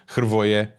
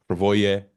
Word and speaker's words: Hrvoje: We would say in Croatian Hrvoje. Hrvoje is fine.